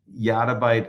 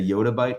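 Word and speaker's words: yottabyte: to store it actually some people say yatab by I like to say yoda bite because I think it's a correct pronunciation and just to give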